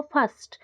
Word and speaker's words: first: फर्स्ट एफ आई एस टी सुना जाउछि, आर टा silent रही जाउछि। फर्स्ट आमे केबे फर्स्ट कहूचे कि आर कहूचे कि आर कहू नै, आर टा साइलेंट रहउछि, आमे कहूचे जे फर्स्ट।